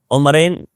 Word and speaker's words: عمرین: کو ادا کرتے ہیں۔ عمرین یہ تثنیہ کا لفظ ہے، جیسے حسنین ہے،